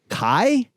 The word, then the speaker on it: Khy: Oh right, with her brand Kai. Yeah, how do you say it? KHY. I guess I was like I just think of the Kai, Free My Man, locked up doing the stream.